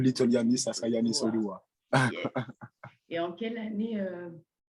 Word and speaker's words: Odua: C'est vrai qu'on m'a posé plusieurs fois cette question, que signifie le nom Odua, Odua, Donc, ça veut bien prononcer, c'est bien Odoa.